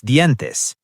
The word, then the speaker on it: dientes: Me lavo los dientes.